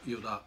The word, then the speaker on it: 依田: そうですね、はい、なかなか依田って読んでもらえないんですね。